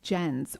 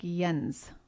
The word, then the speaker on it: Jens: Has a guy named Jen? It's Jens, or maybe it goes... Jens? Yeah, it's a German name, so it's okay. More like Jens. Jens, I think is how they would pronounce it.